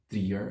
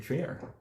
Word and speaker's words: Trier: This is akin to like me pronouncing Trier as Trier.